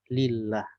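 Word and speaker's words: لله: perhatikan lafadz Allah itu kalau dia ada hamzahnya di depan Maka bacanya Allah tapi ketika hamzahnya dihilangkan maka bacanya lillah Ya aslinya adalah Allah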